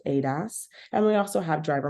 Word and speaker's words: ADAS: also have Advanced Driver assistance systems Adas or pronounced Adas and we also have driver monitoring systems DMS